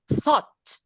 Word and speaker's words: thought: through thought s it's like a-nya itu kayak o bukan berarti a sara no o jadi o dicampur sama a ya iya good last